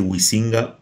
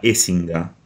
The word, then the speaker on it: Huizinga: hay que decir de Johan escinga o algo así se pronuncia Nosotros le vamos a decir wisinga por una cuestión de fonética con nuestro idioma es como lo leemos y como mejor creemos interpretar que se pronuncia pero la verdad es que se pronuncia algo parecido a escinga y es Además